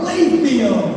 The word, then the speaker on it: Layfield: pronounce this name, Rob Layfield. And I'm like, it's like it's just like the way it's spelled.